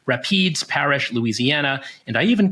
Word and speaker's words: Rapides: corrected me it is Rapides Parish not rappy days or whatever three-syllable thing I came up with last pod Rapids Parish Louisiana and I even